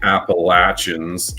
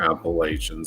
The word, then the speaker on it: Appalachians: So that's the Appalachians or Appalachians. It depends if you're from there or not, depending on how you say it.